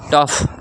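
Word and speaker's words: tough: आपका रफ रफ का मतलब कच्चा या रूखा टफ टफ याद रखिए टफ टफ जैसे मुश्किल ठीक है?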